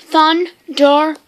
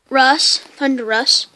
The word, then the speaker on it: Thundurus: It is pronounced Thundurus. Thundurus.